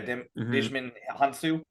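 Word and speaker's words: Djimon Hounsou: get um it's most Jakande right played by Dishman Hansu.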